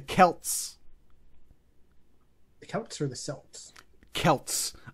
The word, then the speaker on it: Celts: The Celts or the Celts? Celts. Unlike the team in Boston, they know how to pronounce the letter C in Celtic.